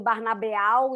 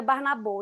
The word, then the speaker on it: Barnabô: E aí eu falei, bom, os brasileiros vão ficar falando Barnabeal e não vai ser legal, bora pôr um O com um chapeuzinho, né? Que é como se fala.